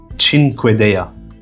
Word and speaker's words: Cinquedea: In Italian, it's Cinquedea. Cinquedea. So yeah, quite far off.